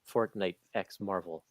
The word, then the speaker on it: Fortnite x Marvel: a standard size hardcover josh is saying the x is silent it's just showing a